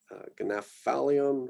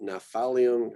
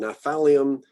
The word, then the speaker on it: Gnaphalium: So Glucurrhiza, Gnaphalium, or just Naphalium, kind of just do away with the G sound, Naphalium, Goodyeara, Gossypium, Gratiola, Gypsophila.